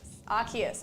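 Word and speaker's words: Arceus: archus oh my God I say archus but after that stream where we went through all the different pronunciations I can't remember if it was with you or D but like we went through all the pronunciations and for some reason I just started saying Aus because other people said Aus when I know it's archus and I know arus is correct I used to think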